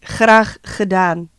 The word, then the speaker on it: graag gedaan: And then we say graag gedaan. That means it's my pleasure. Oh wow, no, that's hard to pronounce. No, you can. Graag gedaan. Rachdan?